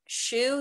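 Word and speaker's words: Schuh: finally I mentioned that shoe there's a store called shoe I think it's spelled c s c h u h or something like that but they are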